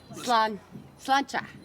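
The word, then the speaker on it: Sláinte: Salancha dog. Is that how you pronounce that? Slancha.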